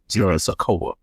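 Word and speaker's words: Sikoa: Nine times out of ten, the speculation is it's gonna be Sono Sako Sakoa. Yeah, that's how you pronounce his last name, which is another Samoan,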